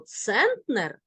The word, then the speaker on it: центнер: дециметр сантиметр міліметр кілометр але слово центнер має наголос на перший склад дивимося далі на перший